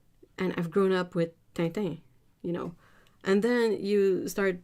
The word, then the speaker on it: Tintin: and all that, and you hear Americans say Tintin, and they can't. They just can't. They cannot say it right.